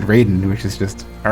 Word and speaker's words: Raiden: Well, like he probably expected me to pronounce it Ryden, but in Mortal Kombat, unlike in like everywhere else, you know, Metal Gear Rising, whatever, uh they pronounce it Raiden, which is just all right.